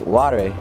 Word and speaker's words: Ware: And his last name was Ware. But come to find out, it was actually pronounced Ware.